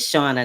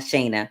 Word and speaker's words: Shauna: Her name is Shauna, not Shayna.